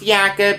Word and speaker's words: Jacob: jacob larson it's pronounced jakob even though it's spelled jacob but he is swedish so that's where the jakob comes from to a two-year extension